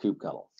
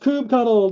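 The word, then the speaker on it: kubectl: there's a command line utility i'm going to pronounce it coop cuddle i actually have someone sent me i was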